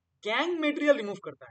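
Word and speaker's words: gangue: लैंग्वेज में बोलते है गैंग मटेरियल ठीक है उसको हम बोलते ग मल इसका स्पेलिंग जो है स्पेलिंग में हमलोग य लिखते हैं लेकिन जब इसको प्रोनाउंस करते हैं हमलोग गंग बोलते तो गंग जो है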